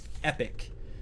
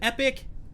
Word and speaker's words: Epoch: I used to say Epoch, I got corrected. I said Epoch, I got corrected. And now the latest interpretation is I need to say Epic, Last Epoch.